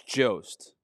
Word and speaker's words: Jost: Is it Colin Jost or Jost? I think it's Jost.